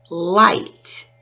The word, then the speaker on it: light: We don't hear the G-H. We hear I. So L-I-T. L-I-T. Light.